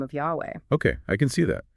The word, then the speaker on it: Yahweh: YHWH, often pronounced Yahweh.